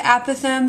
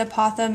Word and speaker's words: apothem: Okay, this, the apothem, some people pronounce it apothem, some people pronounce it apothem. It's kind of whichever you prefer.